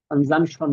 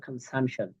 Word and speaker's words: consumption: Compare the given line chart illustrate the কনসাম্পশন, আমরা বললাম the weekly কনসাম্পশন, কনজাম্পশন না, এটা উচ্চারণ হবে কনসাম্পশন।